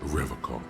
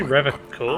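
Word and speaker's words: Revachol: He pronounces Revocol with a hard K. Did you say Revocol? I like to pronounce it the hard way. The old way. The Vespertine way.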